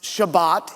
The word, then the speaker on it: Shabbat: word for Sabbath is the Hebrew word Sabbat often pronounced Shabbat in modern Hebrew and it literally means